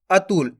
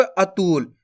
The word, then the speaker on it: अतुल: से पढ़ना आपको कैसे अतुल ऐसे नहीं पढ़ना अतुल अगर आप खीच के पढ़ोगे अतुल तो शब्द गलत हो जाएगा बड़ उ की मात्रा का उच्चारण हो जाएगा जबक अपन छोट उ की मात्रा पढ़ रहे हैं तो अपन कैसे पढ़ेंगे अतुल सिंपल है अब चलिए